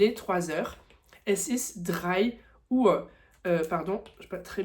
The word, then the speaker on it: Uhr: Donc U H R. Donc il y a le H qui prolonge la voyelle. Donc c'est bien dit "Uhr" avec un U assez long et un R qui prononce presque comme un A, hein.